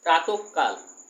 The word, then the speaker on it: প্রাতঃকাল: আর একটা উদাহরণ দেখো প্রাত বিসর্গ কাল, বিসর্গ লোপ পাবে না, প্রাতঃকাল, প্রাত বিসর্গ কাল, প্রাতঃকাল, তার মানে কি এই কটাও ডাবল হবে, প্রাতঃকাল, প্রাত বিসর্গ কাল, প্রাতঃকাল।